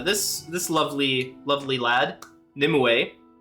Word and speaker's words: Nimue: this lovely lovely lad nimue which is how it's pronounced I double checked they that's what they said in the uh in the in the thing in the announcement video it's Nim away uh this boss is